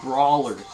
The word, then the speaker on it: Brawlers: Oh, it's silent. Yeah, silent W. Brawlers.